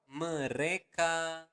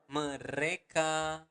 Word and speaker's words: mereka: So mereka makan setiap hari. Okay? One more time, slower. Mereka makan setiap hari. So again, you want to pronounce the letter R clearly. Mereka, not mereka, but mereka makan setiap hari.